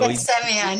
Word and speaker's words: Ghassemian: So Ghassemian, yes. is It's it three pretend syllables? there's no H in the first or the last name. Huh? Pretend there's no H in the first or the last name.